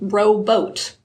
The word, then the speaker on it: robot: 1960s which meant that many people up until then pronounced it row boat oh yeah so there